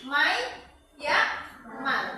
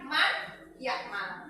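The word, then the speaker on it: من يعمل: Nunnya dimasukkan ke huruf berikutnya. Ya, jadi mayyakmal, bukan man-yakmal. Gitu ya.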